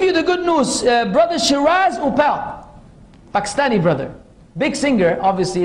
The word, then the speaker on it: Shiraz Uppal: Brother Shiraz Upal, Pakistani brother.